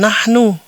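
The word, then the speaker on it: نحن: Jadi, jika ada teks seperti ini, kita membacanya sebagai "nahnu". Jangan bingung, jangan khawatir, oke. Kita hanya perlu mengingatnya, oke. Jika ada huruf seperti ini, dibaca sebagai "nahnu " dan artinya "kami" atau "kita"; Dalam bahasa Indonesia,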